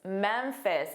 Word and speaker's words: Memphis: Memphis. Again, we see that ph which is pronounced as f ff.